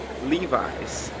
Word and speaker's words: Levi's: Pois é, acredite se quiser, mas em inglês eles pronunciam Levi's.